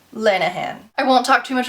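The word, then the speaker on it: Lanagan: when I mentioned this I said her name wrong it is Margo lanan Lanahan I won't talk too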